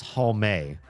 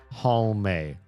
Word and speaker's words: Halme: Because it's Halme. Halme. Halme. Like Marissa Tomei. Halme. You pronounce the E. Everybody wants to drop the E, and I don't.